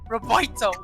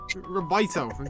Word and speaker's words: Roboito: it's Boy, like boy, Roberto. boy. Right. It's me, your daddy, Roboito. Roboito.